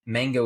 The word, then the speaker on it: Mhango: Another one is I want to create a brand called Mango, and Mango is spelled MHANGO.